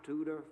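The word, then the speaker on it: Tudor: One dark night, my tutor Ford, it's spelled t u d o r and it means two doors. One dark night, my tutor Ford climbed the hill skull.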